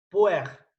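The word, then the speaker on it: Pu-erh: Se llama té rojo y en japonés se escribe así: P, U, un guión en el medio, E, R, H. Puer.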